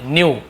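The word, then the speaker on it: know: को पता चला कि न्यू न्यू यानी जाना जानना तो नो का सेकंड न्यू के एन ओ डब्लू नो होता है यहां पर भी ऐसे ही के साइलेंट होता है के एन एक साथ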